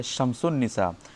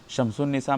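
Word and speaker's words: شمس النساء: उसी तरह एक लफ्ज़ है शम्सुन निसा, शम्सुन निसा में अलिफ़ लाम लिखा जा रहा है लेकिन वो साइलेंट है तो उसको क्या कहेंगे?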